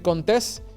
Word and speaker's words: Contés: Mi nombre es Miguel Contés, con acento en la E, y nos vemos en la próxima.